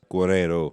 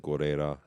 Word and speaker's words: Giro: Lisbon would be nice Guero of course I said Guera earlier before the pronunciation police are on to me um where else though